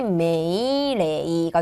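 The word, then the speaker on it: 命令: 자, 넘어가서 미음 보도록 할까요? 자음이 미음으로 오면은 마미무메모라는 마행으로 발음을 할 거예요. 그래서 명령이라고 했어요. 미음이 왔기 때문에 메이레이가 되는 거고 여러분 아까 전에 리을이 오면 뭐 한다? 라리루레로 레가 와서 메일레이 이렇게 읽었구나 체크해 주시면 되겠습니다.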